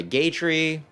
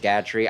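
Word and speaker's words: Gatrie: Okay, Gator. I'm sorry. It's I think it's actually pronounced Gatri. I just like calling him Gator because it's like he's a gate.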